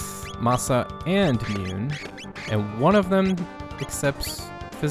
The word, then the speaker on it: Mune: Mune, Mune. I always said Mune when I was a kid, because, you know, I grew up in America and... the whole silent E thing and all that sort of thing.